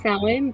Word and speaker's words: Samhain: It's pronounced Samhain, but when you read it, it looks like Samhain.